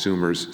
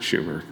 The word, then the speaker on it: Sumner: began with Senator Charles Sumner's Civil Rights Act of 1875. Sumner, rather, not Schumer. He's not been around that long, no. Charles Sumner, people, I said it right.